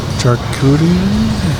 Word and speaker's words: charcuterie: Charcuterie? Charcuterie. Charcuterie. That's how you say it with a French accent, I'm pretty sure.